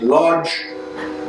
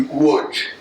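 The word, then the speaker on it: Łódź: larger city in poland called lodge or more the polish pronunciation would be wood but that's where my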